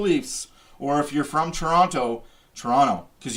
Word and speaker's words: Toronto: The Toronto Maple Leafs, or if you're from Toronto, because you don't pronounce the second T, beat the Flyers 5-2.